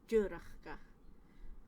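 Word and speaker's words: dùrachdach: Sometimes difficult to pronounce. Dúrachgach. So we've got the ch and the ch in the same word. Dúrachgach.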